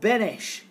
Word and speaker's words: Beneš: Liberated Europe at Yalta, a man called Beneš, or Beans, B-E-N-E-S, Beneš is kind of probably the way you're supposed to pronounce it, he was made president.